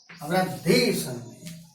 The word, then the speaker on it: वृद्धि संधि: उच्चारण शुद्ध होना चाहिए। वृद्धि संधि, वृद्धि संधि, वृद्धि संधि, वृद्धि संधि।